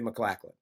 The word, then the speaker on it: MacLachlan: for the people watching Corey and I have had an argument about how to pronounce his name but the Google machine told me McLaughlin um but when I